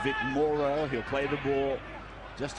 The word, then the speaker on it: Morrow: co- captains with the ball and this is Morrow led to believe that's the way they want it pronounced Vic Morrow he'll play the ball just outside the 20